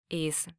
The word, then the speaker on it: Israel: last syllable is stressed the Spanish pronunciation of the country name Israel is Israel this word ends in an L so the last syllable is stressed now we know how